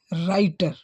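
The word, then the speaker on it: writer: आर आई टीई आर तो इसमें डब्लू का जो व है साइलेंट रहेगा इसको हम ऐसे पढ़ेंगे राइटर क्या पढ़ेंगे राइटर राइटर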